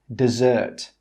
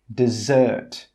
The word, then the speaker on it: dessert: 'Dessert' with two Ss is pronounced 'dessert'. The stress on 'dessert' is on the second syllable. That means more energy is placed on the second sound. Dessert.